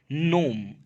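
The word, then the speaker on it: gnome: एम्ब्रियल ए mischievous नोम, इसको नोम पढ़ा जाता है, जी साइलेंट रहता है, यानी एक बहुत ही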